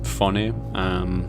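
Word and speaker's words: Vonne: Yeah, my middle name, Von, because it's spelled V-O-N-N-E, so it's Fone.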